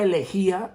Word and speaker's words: elegía: de elegía o lamento fíjese bien se llama elegía o lamento con acento en la y el vocabulario es como